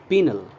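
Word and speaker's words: penal: Okay, pronunciation पर ध्यान रखें आप। This is पीनल, right?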